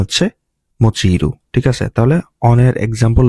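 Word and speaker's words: 用いる: অনের উচ্চারণ হচ্ছে ইয়ো, হ্যাঁ, আর কুনের উচ্চারণ হচ্ছে মোচিরু, ঠিক আছে?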